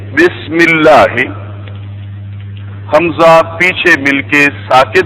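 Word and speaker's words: بسم الله: जो हमजा होता है वो पीछे मिलके साइलेंट हो जाता है, पढ़ने में नहीं आता। पढ़ चुके हैं हम। मसलन बिस्मी की बजाय हम क्या पढ़ते हैं? बिस्मी। बिस्मी अल्लाह की बजाय क्या पढ़ते हैं? बिस्मिल्लाह।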